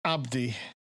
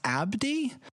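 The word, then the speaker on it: a'body: abody it's actually pronounced Abdi Abdi so this looks like the word anybody but instead of the NY there's an apostrophe it's pronounced Abdi Abdi what is what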